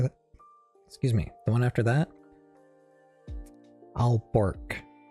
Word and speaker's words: Aalborg: The one after that, the one after that, Alborg, or yeah, AALBORG.